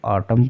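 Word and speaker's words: autumn: पर क्या है कि वर्ड के अंत में अगर एम के बाद एन हो तो एन का उच्चारण नहीं होगा यानी कि यहां पर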